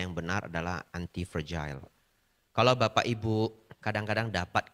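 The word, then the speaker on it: antifragile: pronounce-nya yang benar adalah anti fragile.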